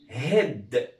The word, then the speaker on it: هيد: عندنا بعد كده هيد، اسمها ايه؟ هيد. خدوا بالكم ان دي كانت اسمها هايد عشان كان في الاخر ايه، لكن دي مفيش ايه، فيبقى نطقها الصح ايه؟ هيد.